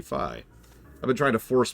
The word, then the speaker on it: Fi: ago something like that apparently it is supposed to be pronounced fi I've been saying fee for like a decade or however long it's been since that game came out but no it is it is apparently supposed to be fi I've been trying to